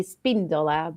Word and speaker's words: Espíndola: The Spanish name has a accent on the I, so it would be Espíndola, but it doesn't sound. It doesn't say Espíndola.